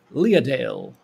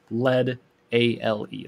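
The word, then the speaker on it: Leadale: uh the world of lia dale i don't know if i pronounced that right it's uh lead a-l-e like lead ale i don't know maybe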